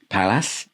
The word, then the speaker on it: Pallas: videos where I think I called them Pallas. Was that how you say it now? Pallas, I don't know how I said it, but it's Pallas anyway.